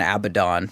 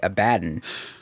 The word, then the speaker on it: Abaddon: remember the summer and Abaddon but they say it wrong it's actually a baton so if [ __